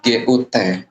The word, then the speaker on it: gut: Kalau di bahasa Jerman gut. Iya. Itu bukan dibaca guten ya.